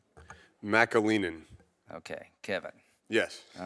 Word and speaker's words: McAleenan: McAleenan.